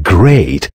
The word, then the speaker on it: great: Watch out for meat and great and threat. They rhyme with sweet and straight and debt.